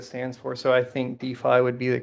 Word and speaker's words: DeFi: walls um so what are your opinions on defy uh duffy yeah so decentralized finance is what it stands for so i think d5 would be the correct pronunciation right decentralized and then finance yeah so d5 um so first of all right now in